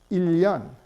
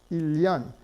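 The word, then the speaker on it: 일년: And it's pronounced ilyan, ilyan.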